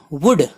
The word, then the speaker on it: would: WOULD वुड L silent है.